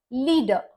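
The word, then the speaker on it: leader: श are silent रहेगा लीडर इसमें अंत का अक्षर है आर और इसके बाद कुछ नहीं है इसीलिए भी यहां पर आर का उच्चारण नहीं होगा इसको हम प्रोनाउंस करेंगे एज लीडर तो यह था आर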